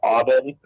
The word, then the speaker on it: Aubin: First name is Aubin.